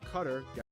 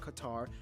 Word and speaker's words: Qatar: how you pronounce it cutter not qatar not quite hair not bob saget but but i'm bob saget neither that's for one of these countries named bob tag putter like a grass cutter or a bomb quickly